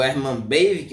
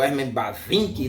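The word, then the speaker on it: Bavinck: em quatro volumes né do Herman bavic ou Herman bavin né Vai depender da pronúncia mas eu herm bav eu prefiro pronunciar dessa forma né que é a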